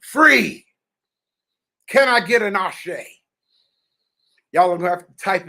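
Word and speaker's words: Àṣẹ: it a a-s-h-a-a-a-s-h-a-y because that's the female phonetic pronunciation but it's actually spelled a-s-e accent ashay okay did you get what i said i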